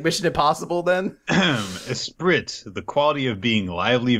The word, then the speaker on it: esprit: Esprit, the quality of being lively, vivacious, or witty. Okay. Or esprit. My mistake. Yeah. That's how you say it.